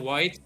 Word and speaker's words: Wight: Oh, white. Okay, that's how you spell it. Oh, W-I-I-G-H. WIGH, but I think it's just white.